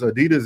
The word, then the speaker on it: Adidas: Adidas is not Adidas. Adidas is Adidas. Adidas. Yeah, Adidas. We pronounce all these shoes incorrectly in America.